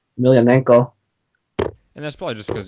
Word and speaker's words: Emelianenko: I'm actually one of the few people among my friends who can pronounce his last name correctly, Emelianenko.